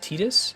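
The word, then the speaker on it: Tidus: spelled that name um as though it rhymes with the detergent tide yeah uh apparently apparently it's actually supposed to be pronounced tetus and to drive that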